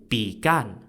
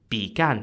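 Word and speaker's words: Bi Gan: the most famous example is King Joel's Uncle began began spelled b-i-g-a-n now unlike his nephew began was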